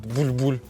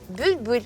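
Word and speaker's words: bülbül: А почему он булькает буль-буль он не булькает просто ты так произносишь нужно произносить с помощью звука ю бюль-бюль Повтори бюль-бюль а ну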